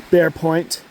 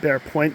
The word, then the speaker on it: Bere Point: in the distance around that bend there is Bear Point and in Finnish it's called Palus Nimi which means bear point, but uh it's spelled different word.